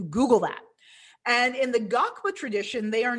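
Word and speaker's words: ngakpa: and our lama lamatashi is a gakba that's spelled n-g-a-k-p-a so i encourage you to google that and in the gakpa tradition they are not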